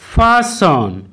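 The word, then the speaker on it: fasten: Rule two, কোনো ওয়ার্ডের শেষে এস টি ই এন একসাথে থাকলে তখন কিন্তু ওই টি লেটারটির উচ্চারণ সাইলেন্ট হবে। যেমন ক্রিসন ক্রিসন, লিসন লিসন, ফাসন ফাসন, চেসন চেসন, হেসন হেসন ইত্যাদি।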